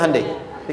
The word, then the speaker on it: Hyundai: sana bikin Honda sini Hyundai Hyundai kan bacanya Hai Ya kan sana Honda sini